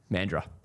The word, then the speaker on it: Mandurah: Mandurah is the correct way.